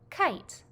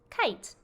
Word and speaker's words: kite: in the word kite you can see the silent e pattern at work i kite the e gave up its sound to make the eye say its name kite here are some practice